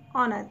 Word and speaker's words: honour: Next है हमारी ऑनर, HONOUR, ऑनर, इसमें H साइलेंट रह रहा है, हम इसको क्या पढ़ रहे हैं, ऑनर, है ना।